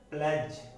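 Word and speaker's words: pledge: तो इसमें जो D है वो प्रोनाउंस नहीं होता। जैसे एज, प्लेज, फ्रिज। तो जहां जो D है वो क्या है? साइलेंट है। D क्या है? यहाँ साइलेंट है।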